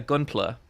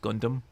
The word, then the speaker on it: Gunpla: into Forbidden Planet being like, sorry, where's your Gunpla? And the guy was like, oh, sorry, it's pronounced Gundam.